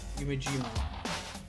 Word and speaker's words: Yumejima: Yume. E is A. Yumejima. In this case, it's A.